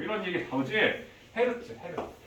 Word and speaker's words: Hz: 헤르츠. HZ라고 쓰고 이거 헤르츠라고 읽어. 헤르츠. 그럼 만약에 자 5헤르츠 하면 1초에 5번 진동했다는 뜻이 되는 거예요.